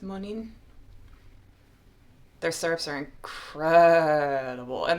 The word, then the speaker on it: Monin: into is the moaning it's French so I think it would be pronounced monin their syrups are incredible